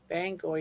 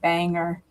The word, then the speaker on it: Bangor: Bangor. Yeah. Is that the correct way? Bangor. Bangor with an R. I want to I would I would called it Banger.